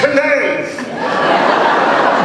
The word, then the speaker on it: knave: Believe it's pronounced knave.